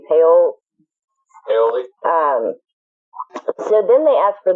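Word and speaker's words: Paole: How you pronounce his name? Paoli.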